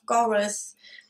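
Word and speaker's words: Goredd: the medievalish kingdom of Goroth. I think that's how it's pronounced. It's spelled G-O-R-E-D-D, which reminds me of the Welsh state of Gwynedd. So I'm just assuming that it's pronounced similarly. Anyhow, like I said, humans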